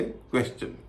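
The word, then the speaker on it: question: जैसे क्वेश्चन। क्वेश्चन में एस के कारण टी आई ओ एन का उच्चारण शन के बजाय च हो जाता है।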